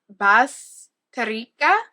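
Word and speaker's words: Bazterrica: Bas Bastica. That's how you're supposed to say it. I've heard so many people say it wrong.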